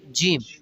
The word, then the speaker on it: ج: Then we have Jim. Jim. Which color Jim? Jim is light green, like very light green or blue, something like that. Jim. Spells, please. Jim is a J-E-E-M. Jim. Bread and jam.